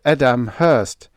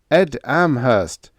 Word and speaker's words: Ed Amherst: Not Edam Hurst, Ed Amherst. Get the difference?"